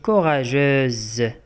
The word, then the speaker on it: courageuse: S entre deux voyelles. Kena S, Bena, juge dit les voyelles. U et E. Et se prononce Z.